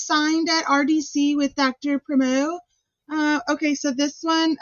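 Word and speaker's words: Primeau: P primo is uh is that how you say it? Primo. Um yes. That's spelled P R I M E A U.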